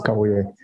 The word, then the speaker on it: Kabuye: Do I have Kabuye? Did I pronounce, or is it Kabuye? It's Kabuye.